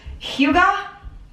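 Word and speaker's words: hygge: This word is pronounced Huga.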